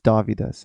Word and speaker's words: Dovydas: Or just, go on Google and type in, but you got to know how to spell it. It's D-O-V, and that's Victor. You know how. Yes, exactly. Dovydas. It's Dovydas.